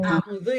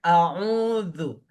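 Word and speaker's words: أعوذ: Kita tekenin yang zu-nya yang benar. A'udzu. A'udzu. A'udzu billahi. Jangan sampai ada pengucapan zu a'udzu itu ada udara yang keluar banget gitu. Keluarnya besar. Nanti bisa-bisa menjadi zai. A'udzu. A'udzu. Itu A'udzu. pindah gitu makharijul hurufnya ke gigi yang bawah tuh.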